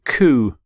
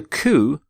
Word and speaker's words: coup: Constitution legislation code charter here's your next word ku ku when there is a coup a group of people seize power or control